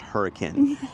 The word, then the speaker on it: Hurricane: so the Elephant Room first it's it is pronounced hurricane even though it's spelled hurricane yeah it's just